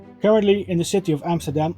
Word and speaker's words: Amsterdam: Currently in the city of Amsterdam, or Amsterdam as you're supposed to pronounce it, there is a hospital in his name which specializes among other things in the cancer research.